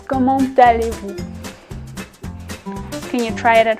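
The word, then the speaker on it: comment allez-vous: might have heard that I actually pronounce this little T at the end which is not usually pronounced any letter in French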